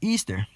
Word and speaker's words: Eastar: It says, this is Eastar, pronounced as Easter.